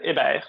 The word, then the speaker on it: Hebert: It's Fred Hebert, but I do accept the English pronunciation as well.